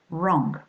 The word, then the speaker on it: wrong: When you've got the combinations of the two letters KN, MB, or WR, the K, the B, and the W are mute. That's to say you do not pronounce them.